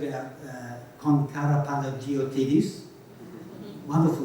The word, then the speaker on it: Karapanagiotidis: be said about Kon Karapanagiotidis. Wonderful name. I once won a trivia contest by spelling that name properly. It's not that difficult, it's all in the syllables, Karapanagiotidis, right?